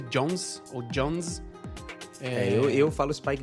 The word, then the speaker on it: Jonze: saxons é um mousse se pronuncia Johns Johns eu falo os